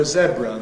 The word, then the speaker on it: zebra: The next one we've got on the handout is ‘zebra’ . There's the green line, and you can see that the younger you are, the more likely you are to prefer , and everybody in all age groups shows a preference for , which is interesting because Americans all say , so this is